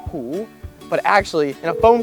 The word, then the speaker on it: Hu: Both in English and in Chinese, you're gonna pronounce it as Hu.